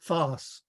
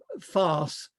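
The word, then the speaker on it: Faes: he thought that um english people wouldn't know how to pronounce fars because it looks like face so he adopted the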